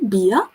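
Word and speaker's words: Bier: i pronounce in german beer is um really close uh to the english word it's just pronounced beer in germany beer so um now you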